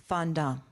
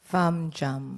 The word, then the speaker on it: Fanm Djanm: Social entrepreneur, creative director, big campaigns like The Gap, L'Occitane, and this all led up to Fondam. Did I say it right? Famjam. Famjam, see?